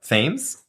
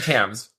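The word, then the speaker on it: Thames: th what Tams Tams what the Tams River tames Tams why are you saying Tams because that's how you pronounce it the tames the tames the Tams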